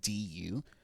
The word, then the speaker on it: du: ya and then do do is actually the easy part because it's just du um so it is actually pronounced as it looks so yeah hell do